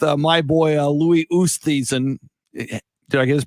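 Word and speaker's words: Oosthuizen: for second with uh my boy uh louis ustheisen did i get his pronunciation how do you pronounce it louis ustasen and of course colin maracala a 64 today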